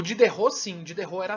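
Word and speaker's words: Diderot: o dede role ou de terror é assim que pronuncia na verdade como ser de terror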